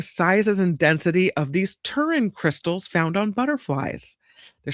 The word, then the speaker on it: pterin: Um and they're studying these butterflies pterins. The word is spelled with a P in front, p t e r i n, pterin.